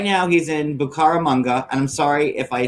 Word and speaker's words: Bucaramanga: Okay, so it's Bucaramanga. So he's right now he's in Bucaramanga, and I'm sorry if I said it the wrong way to all the Bucaramangians out there.